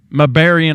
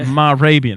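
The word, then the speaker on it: Mehrabian: It's Arabian with an M-E-H on the front. Marabian, that's it. Marabian. I always trip over it. So it's Albert Marabian did these experiments, and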